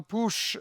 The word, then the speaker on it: Puig: Stämmer, jag har precis lärt mig uttala Puig Brands, stavas Puig, och som också äger svenskgrundade